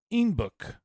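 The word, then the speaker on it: Einbeck: First brewed in the central town of Inbeck. It became awfully popular in Bavaria. Okay, you following me? Popular in Bavaria where their dialect caused them to pronounce the town inbuk, meaning Billy Goat in German.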